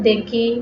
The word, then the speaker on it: দেখি: এরপরে হচ্ছে ই বা রস্যকার, রস্যিকার বা রস্যকার পরে থাকলে এ সংবৃত হয়। যেমন দেখি, দেখি, রেণু, রেণু, বেলুন, বেলুন।